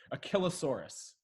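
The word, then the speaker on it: Achillesaurus: I ll e Soros a Killa Soros but it also sounds very conveniently like your Achilles is hurting and you need to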